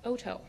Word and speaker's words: Otto: that even Kelly knows your last name is pronounced Oto jarus Houston I don't